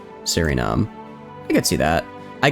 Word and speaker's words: Suriname: I guess, yeah, because I guess Sue, like S-U-E, is like a su sound. I guess I saw like S-U-R and I was like sir, kind of like a instead of a ooh.